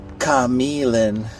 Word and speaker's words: Q'emiln: I don't think anyone knows how to pronounce this. I was thinking Ka-Mee-Lin something, but apparently it's actually Ka-Mee-Lin.